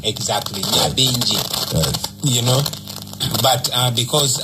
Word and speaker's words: Nyabingi: Nyabingi. Yes. You know? But because our brothers and sisters from the diaspora, English say Naya. When there's N and Y, you don't pronounce it, you pronounce Ni.